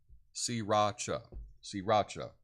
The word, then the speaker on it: Sriracha: But it's S-E-E, just think of like the sea, or to see, but it's Ra-cha, Sriracha, because it's, I guess, by the sea, and the little village's name is Ra-cha.